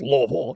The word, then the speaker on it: Louisville: but it's Louisville.